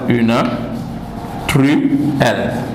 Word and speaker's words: truelle: Une truelle. Voilà. Donc, vous avez vu le mot. Ici, la difficulté, c'est les deux L, L, L. D'accord? Trouelle s'écrit avec L, L.